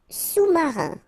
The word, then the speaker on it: sous-marin: Sous-marin. Okay, so E-N here. Un, rein, marin. Alright, and remember, sous, okay, final S not pronounced, so S-O-U, sous-marin.